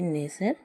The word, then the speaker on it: nestle: दूसरा है NESTLE, नेज़र। इसमें भी जो है STLE आया हुआ है, जिसके वजह से टी साइलेंट रहता है।